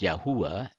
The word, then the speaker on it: Yahuwah: But before I continue, I would like to mention for clarification, in my presentation, I'm using the letters YHWH, or in Hebrew, Yod Heh Vav Heh, pronounced as Yahuwah instead of Lord, which